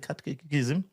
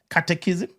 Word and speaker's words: catechism: by the Catholics, and he cited the Catholic Catechism. How do you say it? Catechism.